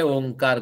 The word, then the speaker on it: ओम: ओम में अ उ म मिलके ओ बनते हैं, और वो जब बन गया वो स्वर बन गया।